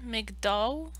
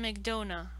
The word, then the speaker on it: McDonough: Martin Martin McDonough. So it's almost donut. So it's almost Martin McDonut, but without the T.